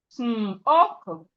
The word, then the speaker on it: smoke: Then we have smoke, smoke. The E here is also silent.